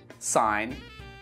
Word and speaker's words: sign: Let's move on to the letter G, and we don't pronounce this letter in words like campaign, assign, design, sign, reign. Say it after me.